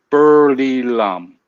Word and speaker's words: Buriram: You don't need to roll it, and you just say it like Buriram. Buriram. Am I close? Bu. Li. Re. Just Li, like L-E. Oh, Li. Buli. And L-A-M. Lam. Mom. L-A-M. L-A-M. Burly Lam. Just keep it like that first, and then